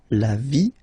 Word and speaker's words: vie: And then when they're ending with ie, like here, okay, so basically you don't pronounce the okay, so it will be only the sound i, okay, for instance, la vie, life, okay, la partie,